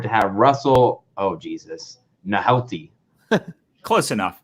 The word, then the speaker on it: Nohelty: have Russell, oh Jesus, Nohelty. Close enough. It's Nick Nolte. It's like it's pronounced like Nick Nolte, but spelled differently. Nolte is how you say it?